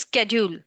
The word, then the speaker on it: schedule: this is a word some says this schedule some says schedule. So this is wrong. This is right for both because there is a British uh pronunciation and American pronunciation.